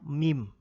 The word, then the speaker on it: meme: First Media sosial dan mim ini tolong ya bacanya Meme ya sama dengan nama huruf hijaiyah ini Meme bukan Meme nanti